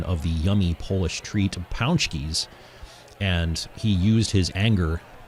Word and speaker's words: pączki: tried to make a joke about eating rat paxi, but the Polish heartthrob was very disgusted by this intentional mispronunciation of the yummy Polish treat pączkis, and he used his anger to come away with the victory.